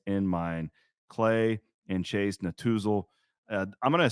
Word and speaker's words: Netusil: from Raymond James Financial Advisors Clay and Chase Natuzal.